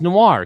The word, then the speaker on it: noir: that what it is did you pronounce that word right noir it's noir kevin it's noir happy birthday